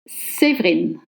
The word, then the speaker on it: Séverine: The spelling does not match the pronunciation. My first name is spelled Séverine, but actually the pronunciation is Séverine. Séverine. You will drop the E between V and R, and that's a rule for French words.